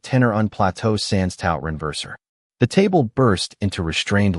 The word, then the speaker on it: renverser: "Actually, sir, the correct pronunciation is renverser, not renverser. Otherwise, you accidentally asked whether I could survive a flood."